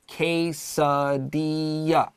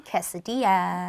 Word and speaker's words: quesadilla: quesadilla and its history we also stress that pronunciation so let's just do that really quick again quesadilla sweetheart quesadilla and all right so don't worry about those l's and take a q